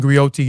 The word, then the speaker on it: griot: Griat and grioti is unique to West African. Uh a griat is a jolly profession encompass many roles. A griat pronounced grio a goi have been